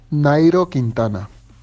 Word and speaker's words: Nairo Quintana: Nairo Quintana.